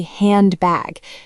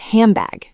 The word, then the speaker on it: handbag: Yes, the classic example is handbag. We almost never say handbag. The N sound changes to an M because your lips are getting ready for the B. It becomes hambag.